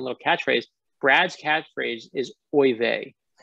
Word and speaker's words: oy vey: studio and he's like boy they i'm like no no that's not how you say it it's oy vey like or oy vey or like i gave